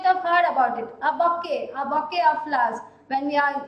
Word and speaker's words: bouquet: The spelling is different and the pronunciation is different. It is given as bouquet, but we are not reading it like that. It is bouquet.